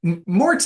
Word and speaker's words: Marotz: Mort's actually. It rhymes with shorts, but it's not oh, spelled that way, so nobody okay.